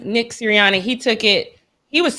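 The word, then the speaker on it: Sirianni: siri how do you say his last name siriani nick ciriani he took it he was terrible y'all he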